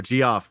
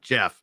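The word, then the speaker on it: Geoff: about handheld what's that I always mispronounce his name because my dislikes I go g off wait no Jeff oh g off and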